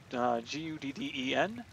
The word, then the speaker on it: Guden: that particular mod is by Guden, I think it's pronounced. It's Gudden. So let's move on to that.